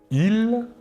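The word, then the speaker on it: ils: personnels sujets tout d'abord le masculin il la S finale ne se prononce pas et le pronom personnel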